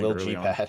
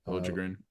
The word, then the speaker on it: Liljegren: So I think Lil G pad, I guess. Yeah. Lil G pad. Liljegren. That is a crazy way to spell it.